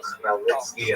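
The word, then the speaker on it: Khmelnytsky: The pronunciation is definitely Bogdan Chmelnytsky, and this is the transliterated version of Ukrainian.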